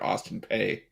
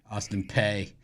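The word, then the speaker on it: Austin Peay: say it right you gota say like bitler Austin pay Austin pay Austin P you know when Dick vital when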